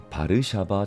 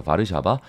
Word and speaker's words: 바르샤바: 중심으로 한 공산주의 진영에서는 바르샤바 조약기구라는 것을 창설하게 됩니다 영어 약어러는요 wto라고 하는데 이때 w가 B 발음이 나는 것이죠 그래서 바르샤바 쥐약 기구가 되겠습니다 지금은